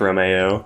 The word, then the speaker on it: Romeo: It is unfortunately pronounced Romeo. It is Romeo.